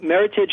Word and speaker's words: Meritage: mean first of all Meritage just rhymes with Heritage that's the easiest way to remember it oh yeah and it's